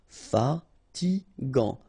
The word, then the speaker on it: fatigant: Final T not pronounced. Fatigant, fatigant.